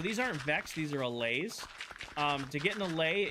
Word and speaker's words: Allay: A L L A Y. Allay.